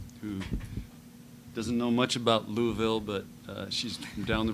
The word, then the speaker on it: Louisville: Louisville or Louisville? Well, you have to say it like you have marbles in your mouth. Okay, Louisville.